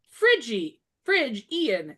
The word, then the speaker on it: Phrygian: So, the Phrygian cap, pronounced Phrygian cap.